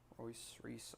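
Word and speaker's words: Reuss: Reese, R-E-U-S-S is how you spell it.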